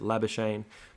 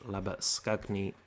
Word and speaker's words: Labuschagne: batsman, Manus Labuschagne, and I'll try my best to pronounce his name in Afrikaans, how it probably should be pronounced. Australians are a little bit lazy and just pronounce it Labuschagne, but I'm going to try and go with Labuschagne if I can.